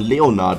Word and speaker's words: Leonard: Ach, Digga, dann spricht man Leonard aus.